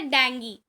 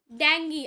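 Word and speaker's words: Dengue: अब नेक्स्ट है डेंगी। डेंगी, आप डेंगू डेंगू डेंगू कहते होगे, लेकिन dear student correct pronunciation is डेंगी।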